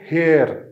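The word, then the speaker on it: hair: जैसे कि हेयर, हेयर, हम उसे हेयर पढ़ते हैं मगर वो हेयर नहीं है, आर जो है वो साइलेंट है, हेयर पढ़ते हैं। आपको यहाँ पे नजर भी आ रहा होगा कि जो आर है उसको ब्रैकेट्स में लिखा हुआ है, यानी ये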